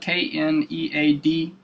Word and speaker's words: kneaded: It's pronounced the how it's pronounced, but it's spelled K-N-E-A-D-E-D.